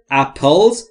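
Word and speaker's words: apple: ما تعدادی سیب خوردیم دوستان در مورد تلفظ اپل اپل یا اپل نیست اپل اپل مثل پیپل پیپل اپل اپل اپل اپل اپل یا اپل نیست پیپل اپل ببینید هیچ صدایی بین پی و ال وجود نداره پس اینا رو باید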